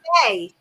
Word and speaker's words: Mei: May.